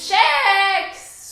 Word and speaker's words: kex: Kex or kex? (a debate of great importance in Sweden, about whether to pronounce the K as a "K" or as "SH") "SHEX" OF COURSE OH MY GOD Do you take milk in your coffee?